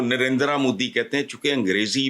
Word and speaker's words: नरेंद्र: है ना इसको प्रोनाउंस यह ना नरेंद्र है ना नरेंद्र है यह नरेंद्र हल्का सा बहाल दुनिया के अमीर